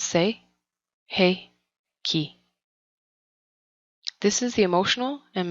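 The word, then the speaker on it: Sei He Ki: chokure the second Reiki symbol say hickey the second Reiki symbol is the say hey Ki pronounced say hey Ki this is the emotional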